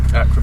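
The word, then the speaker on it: Akrapovič: Akrapovic, yeah, that's it.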